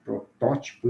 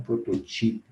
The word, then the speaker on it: protótipo: Nas proparoxítonas, hierógrafo e não hieroglifo, protótipo e não prototipo.